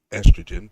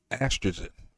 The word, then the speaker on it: estrogen: How did estrogen, not estrogen, but estrogen, that's how you say it, estrogen.